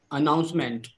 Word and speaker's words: announcement: Announcement. Announcement. So don't put too much emphasis on OU. You are doing announcement. Don't put too much of emphasis here.